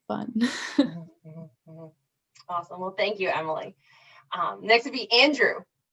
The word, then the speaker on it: Emily: am i pronouncing quickly or is it a meal no it's emily okay cool i decided